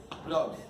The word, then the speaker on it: proost: know how to say the Dutch word for cheers, right? Which is proost. It's like the German Prost, only with two O's, a little bit more sexy.